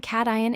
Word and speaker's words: cation: The term cation is pronounced cation.